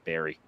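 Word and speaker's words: Barre: funny though is that b a r r e is actually the name of tan I'm from in Vermont we pronounce Barry so and I'm like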